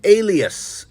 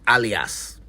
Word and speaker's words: alias: well for the record the word is Alias a l i a s Alias not alas it is used when